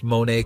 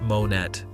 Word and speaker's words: Monet: Learn to pronounce Monae correctly. It's not Monet, apparently.